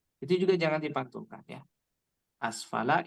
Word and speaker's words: أسفل: Asfala ini bukan qalqalah, maka dibacanya jangan asfala. Asfala la. Bukan seperti itu, tapi bacanya dialirkan asfala.